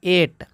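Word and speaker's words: eight: ओ यू तो देखिए जी एच से पहले आई आ गया ना तो आई स्वर है तो यहां पे जी एच दोनों साइलेंट हो जाएगा इसको पढ़ते हैं एट इसको पढ़ते हैं दोस्तों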